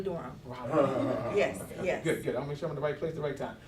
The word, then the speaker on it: Raleigh: Yes, Raleigh, Durham. Raleigh.